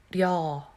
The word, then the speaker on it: 려: In English, when you say y'all, how y'all doing? Y'all, right?